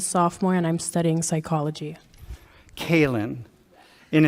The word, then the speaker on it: Kayleen: Kaylin. And it's spelled lean, L-E-E-N. So you know that even though I'm sitting here, right here, going, okay, remember Kaylin, I know I'm going to call you Kayleen.